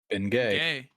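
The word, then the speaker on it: Bengay: How are you supposed to pronounce this, by the way? Ben Gay.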